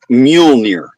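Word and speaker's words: Mjölnir: Say it like this. It's it's Muolnir.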